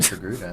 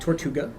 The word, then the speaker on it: Togruta: It is very Which is, it is not Tortuga It's not. or Torguta It is not tortilla. or tortilla. It is not not tortilla.